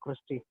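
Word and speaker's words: cristae: इसको प्रोनाउंस करेंगे हम लोग क्रिस्टी।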